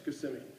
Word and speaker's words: Kissimmee: to pronounce the town he was saying it's spelled k-i-s-s it's got to be kissing me and she's saying no it's Kissimmee so finally they agree